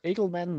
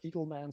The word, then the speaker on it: Edelman: not only learned uh your name is pronounced uh edelman not eagle man sorry for that but